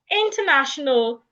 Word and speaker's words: international: I didn't say international because the a there becomes silent. International phonetic alphabet.